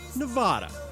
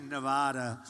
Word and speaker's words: Nevada: All coming as Trump on Wednesday night committed a swing state faux, pronouncing Nevada, Nevada. It has to be Nevada, right?